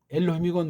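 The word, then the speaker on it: אֱלֹהִים: 근데 뒤에 나오는 건 엘로힘이건 뭐 삼척동자도 알잖아요. 엘 여기다 오자가 있으니까 로, 힘 요거 요드자를 묵음이라고 하잖아요. 참 답답한 얘기예요. 엘로힘.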